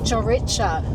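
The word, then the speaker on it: Tjoritja: So it's pronounced Joricha traditionally, and it is of high cultural significance to the Aranda people of this country.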